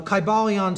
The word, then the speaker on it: Kybalion: It would have been a long I sound, Kybalion, and every syllable would have been pronounced.